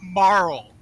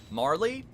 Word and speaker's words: Marle: Like, why do you keep Her name is not Marl. Well, how do you pronounce it? Marley? Yeah.